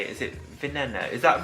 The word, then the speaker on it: Veneno: Is it veneno?